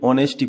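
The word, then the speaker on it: honesty: एच से शुरू होगा कई बच्चे सोचते हैं कि ऑनेस्टी शुरू हो रहा तो ओ से शुरू होगा नहीं इसकी स्पेलिंग याद रखना यहां पर आपको इस तरीके से लिखना है मतलब ईमानदारी जो होती है उसकी स्पेलिंग याद ही कर लो ऑनेस्टी इस तरीके से नेस्टी लिखा है लेकिन ऑनेस्टी पढ़ते हैं इसको ठीक है तो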